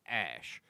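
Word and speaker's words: Æ: the AE right combination which Elon says is pronounced Ash so it's X Ash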